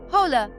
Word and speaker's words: hola: H is always silent. Hola, hola, not hoakla. Every H, silent, no exceptions.